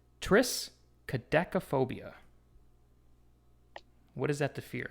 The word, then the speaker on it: triskaidekaphobia: means is this one right here and it's pronounced triskaidekaphobia what is that the fear of again DME